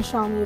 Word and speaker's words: Xiaomi: But, it faces some tough competition from the Xiaomi (pronounced Shiao-mee) Redmi 1s, Motorola Moto E and Android One smartphones, to name a few.